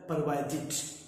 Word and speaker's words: provided: Mostly लोग इसे pronounce करते हैं प्रोवाइड, जबकि रियल में इसको प्रोवाइड नहीं बोलते, ये है परवाइड। और जब इसके डी लगा देते हैं तो बन जाता है परवाइडेड।